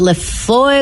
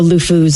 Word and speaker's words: LeFou: I can never pronounce it. Le Foy, Le Fleur, Le Four, Le Fou.